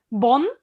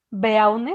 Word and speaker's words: Beaune: Bonn, Beaune, se escribe con B de Bravo, Beaune, Bonn, que es la capital